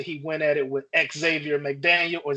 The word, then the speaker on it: Xavier: So, but I thought Jordan was a little soft until he went at it with Xavier McDaniel or Xavier McDaniel. I don't know why people pronounce the X twice, but Xavier McDaniel, they got it.